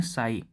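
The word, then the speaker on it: psi: हमने बनाया है ये, इसको हम लोग पढ़ते हैं साई। ठीक है, साई प्रोनाउंसिएशन होता है इसका।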